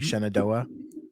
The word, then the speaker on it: Shenandoah: And this is at the Shenandoah Community Center. Did I pronounce that properly? Shenandoah?